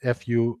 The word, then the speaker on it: fufu: my chops but yeah foo foo pronounced fu I'm sorry spell fu